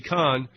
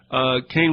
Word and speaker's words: Kahn: Also, I have an interview up with Eddie Kahn. He pronounces it Kane. It's K-A-H-N.